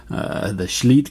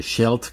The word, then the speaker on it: Scheldt: I pronounced the name of the game wrong last time. I called it the Scheldt Campaign. It's actually the Scheldt Campaign. I guess Scheldt sounds more cool in German.